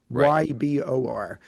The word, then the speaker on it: Ybor: I did not know the proper pronunciation of the area of Tampa called either Ebor or Ibor City. Ybor.